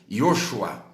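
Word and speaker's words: ישוע: você não sabia mas o nome Josué e o nome Jesus é pronunciado da mesma maneira no hebraico yoshua yoshua porque no hebraico não tem vogal só tem consoantes Então nós vamos encontrar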